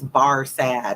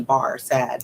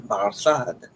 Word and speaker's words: Barsad: lose track of so just remember it's barad it looks like in English like a you're in the bar sad barad said defar making it French by pronunciation barad but he had been